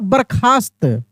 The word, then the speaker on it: बर्खास्त: बर्खास्त बर्खास्त बरखास्त बरखास्त देखिए बरखा बरखा यानी र का उच्चारण काफी तेजी से हो रहा है तो यह र का जो उच्चारण तेजी से हो रहा है ना यह रेफ की मात्रा बन गया बरखा फिर आधा स और त बर्खास्त ठीक ना जैसे